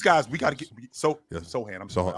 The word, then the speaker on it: Sochan: Castle, Vassell, Sochan, Fox, like these guys, we got to get Sohan. I'm sorry. So it's Jeremy Sohan. It's spelled Sochan. It's Sohan. I apologize. Sohan, That's his name.